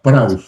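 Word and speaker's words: πραΰς: Entonces, la palabra que Jesús usó acá, manso, es la palabra praus, griega, praus, así como se pronuncia.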